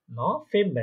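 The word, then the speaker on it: November: নভেম্বর, কারণ দেখেন এখানে একটা ভে যেটা আছে ভি, ওটা ফাও, তাই না? হয়ে যাবে নভেম্বর।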